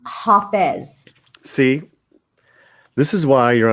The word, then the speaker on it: Hafez: feasts daily contemplations and uh how do you spell that h-a h-a-f-i-z and uh i think he lived one of